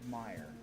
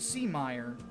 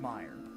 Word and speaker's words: Meyer: first fatal Theory because the first guy you fight is Richard Meyer not Richard C Meer Richard Meyer so yes Richard your